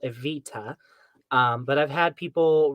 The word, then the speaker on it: Evita: my name I mean it's not that complicated because it's after the the lovely musical aita um but I've had people write AV D or AV da Avita and I'm like